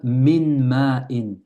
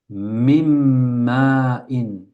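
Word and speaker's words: مِن مَّاءٍ: On ne dit pas min ma'in. C'est lourd. Min ma'in. On dit mim. Mim ma'in.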